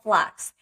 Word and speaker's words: f.lux: have a free application called flux and it's spelled f.lux that automatically eliminates all